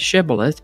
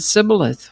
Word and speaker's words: shibboleth: The Gileadites pronounced the word with the SH sound, shibboleth, but the Ephraimites pronounced it sibboleth without the SH sound.